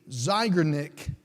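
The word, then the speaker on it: Zeigarnik: there's even a term for this it's the zygonic effect I'll spell it if you want to write it down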